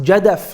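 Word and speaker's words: جدث: Another name is jadath, and this can also be pronounced jadaf with a fa as well.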